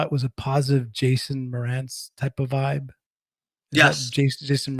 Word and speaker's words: Mraz: I think I just said his name wrong. Jason Mraz. That's what it is. Jason Mraz.